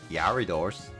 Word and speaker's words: Gyarados: I mean, I could train it to get like Gyarados and name it Will.